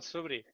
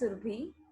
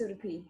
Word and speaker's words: Surbhi: So what about Subri? Did I pronounce your name correctly? Probably not. Subri? The lovely girl with dark hair and yellow shirt. Blouse. Hi. Its pronunciation is Surbhi. Subri. Surbhi. It's Surbhi.